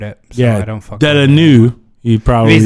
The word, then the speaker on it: Villeneuve: But what I was going to say is the director, Denis Villeneuve, or is that how you pronounce it? I know Jonni pronounced it properly. I butchered it. So I don't fuck Vela-new.